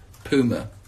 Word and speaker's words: Puma: that I have on that's that's right kids pummer nobody in England will like me for pronouncing it that way but I spoke to